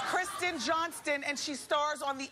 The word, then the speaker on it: Kristen Johnston: Kristen Johnston. What it do was people say? Kirstie Johnson. Kristen Johnson. They're stupid. Kirstie Alley. Stop. It's Kristen Johnston and she stars on The X's.